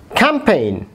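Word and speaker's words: campaign: একইভাবে ক্যাম্পেইন, ক্যাম্পেইন, জি এর উচ্চারণ হচ্ছে না।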